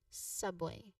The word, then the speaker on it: subway: So ground for subway it's stress is on the sub same same as underground under first syllable and then way there's